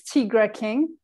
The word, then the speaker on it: Tigre King: your uh album so it's tigre king yes uh it's just the r and e or switch yeah for reliability uh and cultural purposes okay okay because when